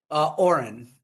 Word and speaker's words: Orin: Oren.